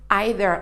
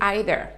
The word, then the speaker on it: either: quelques problèmes parfois donc idéaux il aura peut se prononcer ivey or ok le leader y ait y est et on peut également se prononcer haider ok donc que vous entendiez in either c'est la même orthographe c'est le même mot donc il signifie soit